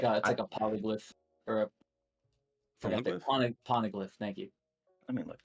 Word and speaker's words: Poneglyph: Poneglyph. Yeah. No, I was Jesus. pronouncing the G twice for some reason.